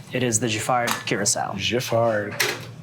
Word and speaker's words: Giffard: Giffard. Soft G.